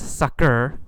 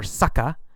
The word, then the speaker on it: sucker: beat you and then sucka sucka or sucker two pronunciations sucker or sucka that's uh it just